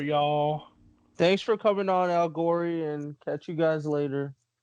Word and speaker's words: A1gory: And my name is Al Gory, aka A1gory, or you could say A1 and only baby Al Gory.